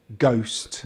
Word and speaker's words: ghost: When the letter H appears after the letter G, it's usually silent, such as ghost, ghost, ghetto, ghetto, rhino, rhino, rhyme, rhyme.